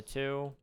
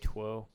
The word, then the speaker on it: two: Especially because we don't even pronounce the W in the 2 anymore. I mean, I'm sure back in the day we used to probably say twu. Twu.